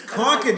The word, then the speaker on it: Concord: And he says, when they're talking about Lexington and Concord, that's how they say it. It's Concord, you fuck!